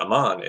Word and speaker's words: Amman: man oh I'm on they went inside Iman Jordan I really gotta work on my pronunciation of cities in the Middle East uh Amman of course is the capital of Jordan so for those of